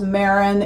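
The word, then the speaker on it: Marans: Like one I would like to get, I think it's pronounced Maran, M-A-R-A-N.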